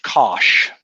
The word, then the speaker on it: cosh: And it turns out this right here is the definition of the hyperbolic cosine, which is, I think, pronounced cosh. Well, that's pretty clear it pronounced cosh, right?